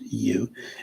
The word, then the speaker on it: Yu: Charles Yu, who I know is pronounced Yu, and we just had